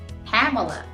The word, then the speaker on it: Pamela: People call me Pamela, Pamelia, but it's actually Pamela. Pamela. You got it. So that's how you correctly say my name.